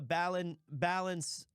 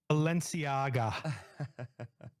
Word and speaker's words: Balenciaga: It was a, how do you pronounce it, Notorious? I have no, it's a Balenciaga. Balenciaga.